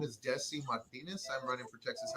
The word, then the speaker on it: Desi: The first name, because it gets butchered a lot, it's been butchered since I was little, is Desi, like Arnez, Desi.